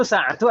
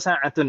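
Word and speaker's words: ساعةُ: Tapi yang betul sa'atu atau sa'atun membacanya? Satu. Kenapa sa'atu tidak tanwin? Karena kedudukannya mudhaf.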